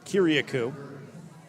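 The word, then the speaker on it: Kyriacou: riders debut and a huge moment for david kiriakou kiriakou i think i'm pronouncing that correct he told me how to pronounce it i tried to write it down the best way could k-y-r-i-a-c-o-u kiriakou it is the 59 195 pound infielder outfield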